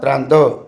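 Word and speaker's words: trente: 30 को उच्चारण में त्रांत बोलते हैं, और 40 को उच्चारण में क्या बोलते हैं?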